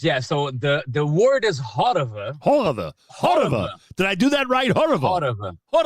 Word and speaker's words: Horova: So the word is Horova.